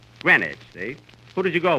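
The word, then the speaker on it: Greenwich: green witch Village Kenny that's not green witch you see here in New York it's pronounced grenage grenwich see who did you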